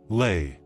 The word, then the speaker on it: lay: Lay. Обратите внимание, что сочетание букв в конце этого короткого слова тоже произносится как A.